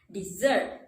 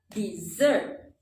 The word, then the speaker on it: dessert: that I can understand dessert is a two-syllable word with the stress on the second syllable you can do like this dessert so how do you